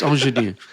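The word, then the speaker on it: Angénieux: Angenieux Type S21 50mm f1.5. We should ask our future guest. It's Angenieux.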